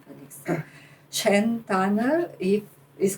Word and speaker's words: Schernthanner: Shantana, if is correct. Yes, in German it's pronounced Shantana.